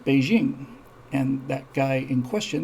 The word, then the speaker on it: Beijing: was mao se tun but now it's not peaking it's beijing and that guy in